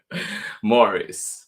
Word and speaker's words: Maurice: Books of San Francisco did I say Maurice Maurice good luck to me trying to keep the one pronunciation Morris by Jessica Bagley here